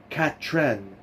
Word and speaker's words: Catherine: Catherine, that's Catran, she said again, placing the emphasis on the final syllable.